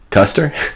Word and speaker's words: Custer: Custer? Custer's last stand. Custer. Yeah, there it is. Custard. General Custer. Yes, at the Civil War. It rhymes with it. Colonel Mustard, General Custer.